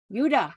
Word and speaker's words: Judah: yeah yeah you pronounce a j as a as yeah why as a why a j word I'm trying you caught me off Corner don't worry lots of J words are pronounced with more of an H sound it's more of a ha yeah okay so yeah